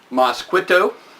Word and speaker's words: MosquitoSpell: It's MosquitoSpell. That's the way I'm going to pronounce it.